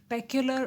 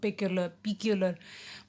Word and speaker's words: peculiar: पेक्युलर और पिकुलर what ever you pronounce दोनों चलते हैं, ठीक है।